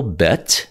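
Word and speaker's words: בית: modern Hebrew up here here's the pronunciation bet and it's a structure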